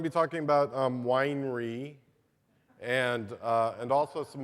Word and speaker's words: Weinre: Um, so I'm going to be talking about um, winery and uh, and also some other other tools that are available and and up and coming.